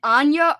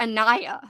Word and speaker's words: Ania: think by the way do you pronounce it anya or anaya listen i don't know i've heard both i say anya but like i heard gabby reads she says anaya um somebody i've heard at both ways i say anaya